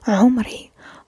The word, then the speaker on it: عمري: And عمري. عمري, like عين, if you do remember, is the same sound. It might be a little bit difficult to pronounce, but it's عمري.